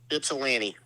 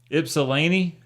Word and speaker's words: Ypsilanti: welcome Detroit Dave how the hell do you pronounce the city that Eastern Michigan is in Ypsilanti Ypsilanti that ain't no Gypsy what